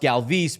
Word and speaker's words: Galvis: Remember Freddie Galvis became Freddie Galvis? Because after a couple seasons, they're like, it's actually pronounced Galvis, but Freddie didn't want to make people say it, blah, blah.